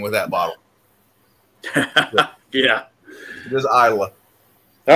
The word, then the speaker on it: Islay: um you know says islay or isla or something like that but it's pronounced isla just regular old isla just take the s out yep and the y